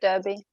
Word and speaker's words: Derby: Derby is it Derby is that how we pronounce it that's it Derby yep and we got into our waiters and